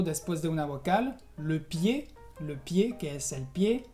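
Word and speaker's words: pied: Por ejemplo, después de una vocal, le pie, que es el pie, o también froid, que es frío.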